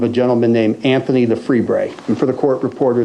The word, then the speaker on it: Lefebvre: And the break came in the form of a gentleman named Anthony the Freebray. And for the court reporter, that's spelled Lefebvre.